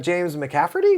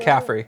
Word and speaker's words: McCaffrey: yeah, with being James McCafferty. Is that how you say his name? McCaffrey.